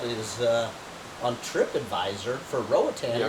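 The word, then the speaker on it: Roatán: Like we talked about, I've been kind of pronouncing Roatan wrong, but I mean it's like Roatan, like an an.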